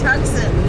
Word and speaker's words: Tucson: It really is Tucson.